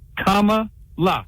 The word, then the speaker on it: Kamala: president Harris hey the best way to remember how to say kamala's name is to think of the word comma as in you know the the comma right you're not doing it though you said it wrong in the beginning as in using a comma in a sentence it's comma La that's how I remember so I don't know